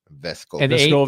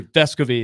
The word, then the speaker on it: Vescovi: long time incorrectly yeah that's what it was vesco but it's actually vescovi is the accent on the first syllable Amy from Arkansa mentions